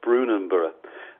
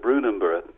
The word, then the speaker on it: Brunanburh: This was called the Battle of Brunanburh.